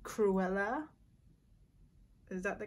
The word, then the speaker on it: Cruella: makeup look it's inspired from the movie called cruella is that the correct pronunciation yes cruella um it's just a specific picture that i